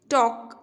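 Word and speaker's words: talk: टॉक, L is silent.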